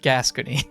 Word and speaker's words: Gascony: It is pronounced Gascony.